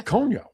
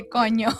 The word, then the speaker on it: coño: How is it pronounced? Coño. Gonyo. With Okay. Oh, Conyo? Yeah. Conyo. Like way down in Kokomo? You heard it here first, folks. We just got Aaron to say coño.